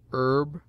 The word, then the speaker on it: herb: first syllable in which it is always sounded with a full breath except in air herb oler honor humble honest humor and their derivatives it sometimes begins middle